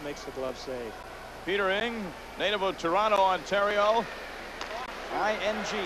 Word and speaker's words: Ng: Peter Ng, native of Toronto, Ontario. I-N-G is how you spell it.